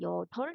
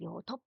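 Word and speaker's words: 여덟: 그러니까 우리가 여덜 해볼게요. 여덜의 받침이 리을 비읍이거든요. 그럼 우리가 그걸 여덥 발음하지 않아요. 여덜 발음하거든요.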